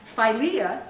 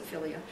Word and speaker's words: philia: to discuss the minut philia is Brotherly Love or filia some people pronounce it filia is is Brotherly Love